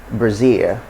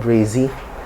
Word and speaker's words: Brazil: have the word brazil brazil brazil so it's not breezy it's just brazil brazil city spelling brazil that's